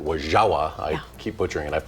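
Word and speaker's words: Wo-Zha-Wa: Well, the Wisconsin Dells gearing up for Wazawa Days this weekend. Wazawa means fun time in native Ho-Chunk. I think the proper pronunciation is actually Wajawa.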